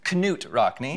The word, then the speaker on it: Knut Rockne: I am named after, I believe the pronunciation is Knut Rockne.